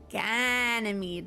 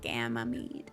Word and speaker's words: Ganymede: Ganymede, not Gamamede.